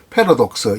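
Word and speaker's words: paradox: 파라독스라고 외래어 표기법으로 쓰지만 실제 발음은 패러독스 이렇게 돼야 되겠죠.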